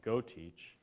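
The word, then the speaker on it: GeauxTeach: at LSU, it's called GoTeach. Spelled a particular Cajun way. Yeah, it's spelled Cajun, G-E-A-U-X, GoTeach.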